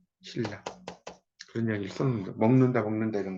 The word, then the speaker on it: 신라: 신나인데 신라라고 있잖아요. 그러니까 이거는 신나지만 여기에 리을이 있기 때문에 이것도 이제 리을로 발음을 한다는 거예요. 신라.